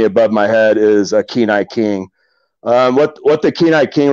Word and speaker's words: Kenai: Where did Kenai King come from, and what does it mean? All right, good question. So you pronounced it wrong. Yeah, so it's actually a Kenai king.